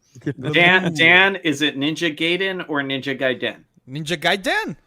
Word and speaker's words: Gaiden: It's Gaiden. Yeah, I say the Gaiden. Yeah, I say Gaiden. It's Gai. That's Guy. It is Guy, but it's a Gaiden.